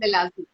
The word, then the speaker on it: melasma: Yeah, melasma. Melasma. Yeah. So melasma is a hormonal condition. Oh. You will have to find out what is the reason for your melasma.